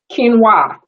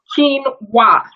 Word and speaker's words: quinoa: Lighting is kind of bad in here, but this is red quinoa. And yes, it is pronounced quinoa, not quinoa. Like keen, you're keen to do something. Wah, like wah. Anyway, and do you cook quinoa, Shannon?